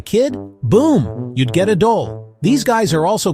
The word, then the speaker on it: dhole: The dole. Yeah, that's right. Not a typo. D H O L E. It rhymes with goal, but trust me, it's way more interesting than soccer.